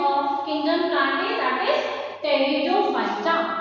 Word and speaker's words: Pteridophyta: Next we have our division that is pteridophyta. Yes, students, now we have our third division of kingdom plantae, that is pteridophyta. P is silent.